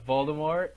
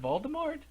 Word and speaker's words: Voldemort: has to fight Smokey which is really uh Voldemort perfect of course it is of Cl is Voldemort is it what is it Voldemort is it Voldemort okay I what are you